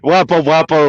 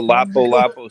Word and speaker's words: Lapu-Lapu: Wapo Wapo or whatever the way you pronounce it, he's giggling back there. Oh, Lapu Lapu City.